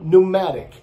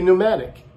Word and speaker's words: pneumatic: And also the word pneumatic. I don't know, in Portuguese, probably pneumatic, pneumática, you know, say. But in English, sometimes it's silent, but the most time